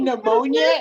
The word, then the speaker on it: pneumonia: pneumonia, and my brain went, oh, so it has the silent P in front of it.